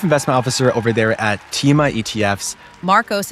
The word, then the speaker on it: Tema: We have Yuri Kojamirian, the Chief Investment Officer over there at TEMA ETFs. Marcos, it's pronounced TEMA ETFs, not TEMA.